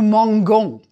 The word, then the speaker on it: mangeons: you've never said nous mangeons. You add the E in the new form to preserve the pronunciation where there's an A, O, or U coming after the G.